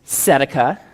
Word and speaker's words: tzedakah: This is tzedakah. The T is not pronounced.